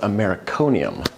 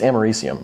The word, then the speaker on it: americium: hands on some radioactive americonium just look up brand's container uh real quick editor jay here uh apparently i was feeling a little extra patriotic because it's not pronounced americanium it's americium i say it a